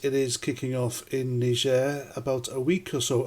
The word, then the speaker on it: Niger: reason I will be pronouncing the name of that country as Niger the French version and so yes it is kicking off in Niger about a week or